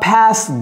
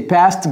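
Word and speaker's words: passed: simple de pass donc ne dites pas pasast Gast c'est past gas during pendant during the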